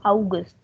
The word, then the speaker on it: August: german spelling is same for august but the pronunciation is different so in german this is august like we say september october november december now